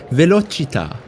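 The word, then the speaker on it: velocità: but now I know it's definitely Italian pronunciation guide I'm going to click the button velochita oh boy I'll I'll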